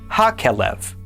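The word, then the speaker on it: הכלב: However, if we add the he patach prefix to the front of kelev, it is then pronounced ha-kelev, and now it means the dog.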